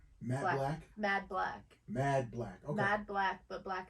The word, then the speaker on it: Mad Blac: Mad Black. Okay. Mad Black, but Black is spelled BLAC.